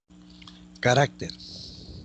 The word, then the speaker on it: carácter: Carácter, penúltima sílaba.